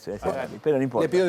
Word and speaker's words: Harari: Em, Creo que no se pronuncia el H, Harari, pero no importa.